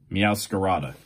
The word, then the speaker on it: Meowscarada: MeowScarada or something like that? MeowscaradaEX.